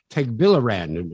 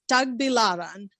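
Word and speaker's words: Tagbilaran: in the city of take bill iran did i get that right uh the the syllable in the syllabuses is a little wrong it's tag bilaran in the philippines yeah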